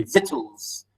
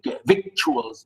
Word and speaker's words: victuals: though or whittles sometimes some english people say vitals really vittles even they don't say vic victuals it's really vitals uh sometimes it's it's